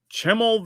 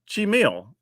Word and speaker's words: Chimil: I'm probably pronouncing that wrong, too. Chimil. Okay, that makes sense. So I was saying it wrong.